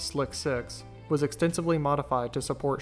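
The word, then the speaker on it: SLC-6: specifically High inclination launches space launch complex 6 slc6 pronounced as slick 6 was extensively modified to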